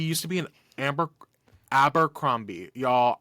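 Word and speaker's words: Abercrombie: Amber abber cromie y'all I grew up saying it wrong and my parents never corrected me and now I'm well into adulthood and don't know how to say it I always put an m in there Amber cromie I remember having this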